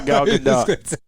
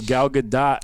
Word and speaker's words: Gal Gadot: Yeah, he's just coming for Gal Gadot. Yo, I thought her name was Gal Gadot, and I heard her pronounce it Gal Gadot.